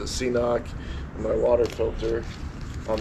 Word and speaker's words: CNOC: And then I had always carried my CNOC, or I heard some people call them Canucks. I don't know, I've always pronounced it CNOC, and my water filter on the other side pocket.